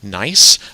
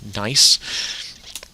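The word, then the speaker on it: gneiss: that are marble and nice uh is how that one is pronounced announced uh um nice and non-foliated meaning is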